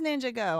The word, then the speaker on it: Ninjago: It is Ninjago. I don't I mean, look, I I'm not going to be calling plural of LEGOs LEGO and I'm not going to be calling it Ninjago unless they need to separate that word. It's Ninjago. It is. Look at it. Look, just because somebody else pronounces something wrong don't mean they're right. It's Ninjago. The ninja is going. The ninja is going on adventures. Um anyway, Ninjago.